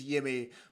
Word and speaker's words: Jimmy: fun isn't it because the Swedish pronunciation is yimy but I think it's it's it's going to be Jimmy isn't it for us